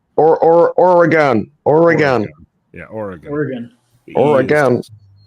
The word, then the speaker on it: Oregon: oron or a gun like think of or a gun or or Oregon Oregon yeah Oregon Oregon